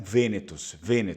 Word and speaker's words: vênetos: eu falei para vocês, os próprios gregos lá da antiguidade, no tempo da guerra de Troia, já chamavam eles de ênetos. Só que o grego antigo não pronunciava a letra V, assim como o latim, né? Então, na verdade, eram vênetos, tá bom?